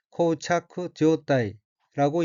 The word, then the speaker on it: 膠着状態: 둘째 줄 첫 번째 어휘는 한자가 한국어로 교착 상태이고 아교교, 붙을 착, 형상상 및 모습 태자로 되어 있고 일본어로는 코우차크 지오타이라고 읽으며 코우차크 지오타이는 교착 상태라는 뜻입니다.